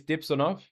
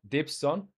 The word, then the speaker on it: Dipssonov: My name is Dipssonov, not Dibson.